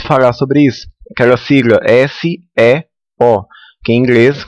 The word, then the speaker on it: SEO: sobre isso aquela sigla s e o que em inglês como ela vem do inglês a gente pronuncia seo tá que significa se